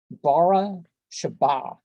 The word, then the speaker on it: Beersheba: Bara Sheba.